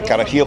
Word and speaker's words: carajillo: So it's called a carajillo. So carajillo. It's a J, but it's pronounced with a sort of a hard H.